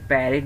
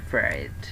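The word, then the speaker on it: parrot: একইভাবে আমরা যেটাকে প্যারেট বলতাম এখন বলবো আমরা ফ্যারেট।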